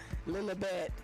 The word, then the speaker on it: Lilibet: No, it's Lilibet. It's Lilibeth. Look it up. That's not how you pronounce it. I don't care how it's spelled. Okay, but nevertheless, Lilibet. the baby's name is Lilibet after. It's Lilibeth. There's no H in there.